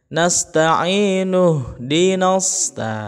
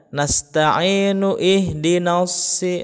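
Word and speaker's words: نستعين: Sehingga kalaulah ini mau diwasol atau dilanjut bacanya ya, i-nya 2 harokat, nasta'i begitu, nu langsung ke ha sukun ya. Nasta'inu dinas, begitu ya. Jadi bukan nasta'inu ihdinas.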